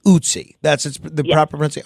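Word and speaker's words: Ötzi: So that ice mummy's name is pronounced otsie.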